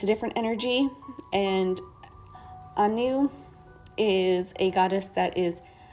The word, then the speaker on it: Anu: is a celtic goddess um her name is anew that is how it is pronounced um she sometimes goes by anna or